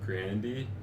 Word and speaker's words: Grande: Apparently, her last name is pronounced Grandy, but I'm so used to Isn't saying there an Grande.